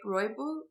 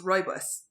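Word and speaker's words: rooibos: i see how do you say it right roybal i don't know i just guessed i think according oh of course it's it's uh pronounced roibus like roy's the bus did you hear that ribose ribose so it's pronounced ribose but i've seen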